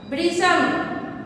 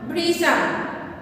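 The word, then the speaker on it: भृशम्: भृशम, भृशम, इसको भ्रू उच्चारण नहीं करना है।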